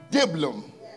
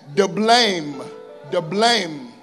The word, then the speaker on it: Diblaim: Hosea married Gomer, the daughter of Diblaim. That's definitely not how you say that. Diblaim. Oh, yeah. I'll teach you about it later. The emphasis is always on the second syllable in Hebrew.